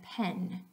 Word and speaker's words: pen: is an interesting case for most of you you will pronounce these two words differently in English pin and pen so the a sound and pin and the a sound and pen you hear the different sounds and one word means one thing and one word means another thing in this south most people pronounce these two as pin both of them so you would